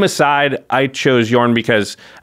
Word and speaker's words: Jorn: i clearly was mispronouncing everyone was mispronouncing the name of jorn it's yarn uh the entire episode whoops the deck i built today is jorn god of winter jorn god of winter i